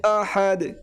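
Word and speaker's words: أحد: কুলহু আল্লাহু আহাদ আহাদ হাটি হলো high Houthi একটু নরম একটি বাতাস বের হবে আহাদ আহাদ আল্লাহুস সামাদ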